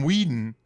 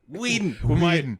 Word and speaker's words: Whedon: When Joss Whedon showed up and they hired him, Joss Whedon took one look at the script.